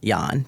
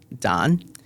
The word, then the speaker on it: Dan: It's a Vietnamese name and he's it's pronounced Yan, but everyone thinks it's Dan.